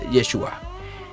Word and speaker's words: Yeshua: Jesús y significa salvador que en hebreo significaría o se pronunciaría yeshua y también pero también